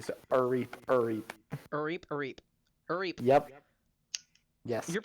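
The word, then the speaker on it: R'eep: Except there's an apostrophe, so the R is pronounced kind of separately. So, Reap, Reap.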